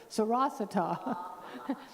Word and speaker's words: Sarasota: named it Mount Sarasota, like the Sanskrit pronunciation for Sarasota, Sarasota.